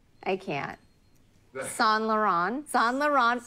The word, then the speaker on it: Saint Laurent: say that to Lauren how do you say sell the Run Saint Laurent but I don't call Solo or whatever you said you said it you said it more friends I see I said it very French how do you say